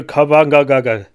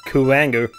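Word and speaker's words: Kuwanger: name yeah Boomer Kang I believe it's pronounced Kanger which is ridiculous whatever but the stage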